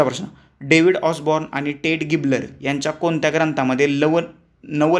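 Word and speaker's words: Gaebler: David ऑसबन आणि टेड गिबलर हे लक्षात ठेवा किंवा गॅबलर काय म्हणा ते म्हणा गिबलर खरं तर ते त्यांनी गिबलर म्हटल ते गॅबलर असं त्याच प्रोनन्सिएशन आहे पर्याय क्रमांक दोन आपल्या प्रश्नाच उत्तर आहे.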